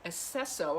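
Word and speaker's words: Aceso: goddess of recuperation um esseso i think is how you say it a-c-e-s-o the goddess of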